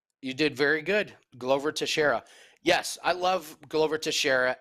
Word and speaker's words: Teixeira: Any thoughts on Old Man Teixeira, I think is how you say that, to come out victorious as an underdog this weekend?